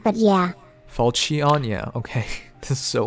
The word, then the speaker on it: Falchion: The way they pronounce it, it's Falchion, but yeah. Falchion, yeah, okay.